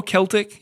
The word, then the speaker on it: Celtic: She's Celtic music, or Celtic, if you prefer to pronounce it that way.